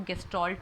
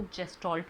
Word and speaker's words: गेस्टाल्ट: तो कुछ लोग इसको गेस्टाल्ट भी बोलते हैं, कुछ लोग इसको जेस्टाल्ट भी बोलते हैं, तो दोनों ही प्रोनाउंसिएशन चलते हैं, कंफ्यूज नहीं होना है इसमें।